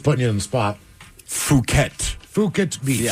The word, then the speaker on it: Phuket: Phuket. Phuket Beach. Phuket, yes.